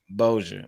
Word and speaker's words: Bossier: ] forgot is it Boise Bossier City Louisiana Bossier Bossier with love from Bossier with love man